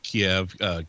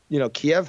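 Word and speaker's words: Kyiv: Kiev has the ability because, so there's an airbase in Kiev. I say Kiev, but it's, again, I explained earlier in a little diatribe that apparently it's pronounced Kiev.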